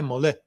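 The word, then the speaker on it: Molay: Jaces de Mol Molai que se escreve Molai Molã.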